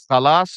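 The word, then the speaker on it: خلاص: I would, Khalas is spelled KH. Kha, with a kha.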